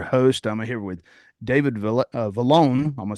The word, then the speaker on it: Vallone: I'm going to start it off already saying it wrong, but it's Vallone. Sounds like a loan with a V is what you told me, right?